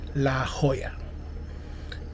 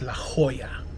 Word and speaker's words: La Jolla: day two here at I finally got the pronunciation of the place it's La Jolla spelled La space j-o-l-l-a but it's pronounced La Jolla we got a few things to talk about